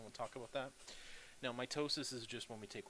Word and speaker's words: mitosis: division and mitosis know what proper way to say it is my toes sense mitosis so it's like you hurt your toe and then your sister says what's wrong you say mitosis right okay that's it